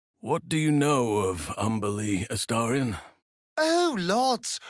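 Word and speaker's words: Umberlee: do you know of umbily Astorian oh Lords rhymes with undersea for one thing fitting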